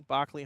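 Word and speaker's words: Barkly: Was it like a fiveday trip stopping at the Berkeley Homestead? Was it Barkley? Barkley Homestead. Should say it correctly.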